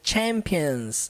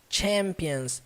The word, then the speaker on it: champions: para nós entendermos aqui essa palavra aqui ó ela não leva o som do CH igual no português sabe Champions não leva como Champions Champions sempre com força Champions Where the champions my